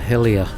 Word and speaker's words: Hellyer: of Hellyer cave system I was later informed by Hamish our Shetland friend that locally it's pronounced the Hall of Helia I hope I got